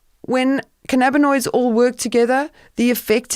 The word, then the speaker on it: cannabinoid: Say it. Cannabis? No, cannabinoid. Cannabinoid.